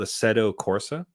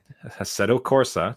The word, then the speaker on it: Assetto Corsa: is quite good called Assetto Corsa. Yes. I am Yeah. probably butchering that pronunciation, by the way. I think it's Italian. Assetto Corsa.